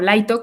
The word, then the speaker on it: Light: Entonces, Light, o Laito, como más o menos lo pronuncian, se convierte en Kira, que era lo que decía Marcy, este personaje.